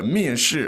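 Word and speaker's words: 面试: 面试, and it's both four tones.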